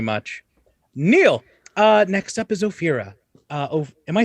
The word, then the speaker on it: Ophira: Next up is Ophira. Am I saying? I keep feeling like I'm saying it wrong. Fear. Just say fear in your mind. Fear in the middle.